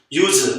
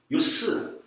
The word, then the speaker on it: use: use 사용하다. 명사할 때는 S, use. 스펠링은 똑같지만 명사할 때는 use, 동사할 때는 use.